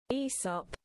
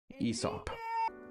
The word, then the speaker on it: Aesop: Aesop. Aesop.